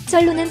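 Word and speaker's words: 真露: 쩔루는 참이슬의 중국어 발음입니다.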